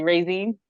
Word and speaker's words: Raizine: How do you pronounce your first name? No, you're saying it correctly, Raizine. Raizine. Okay, it is because so it's Raizine. I want to go back to Raizine, the early years.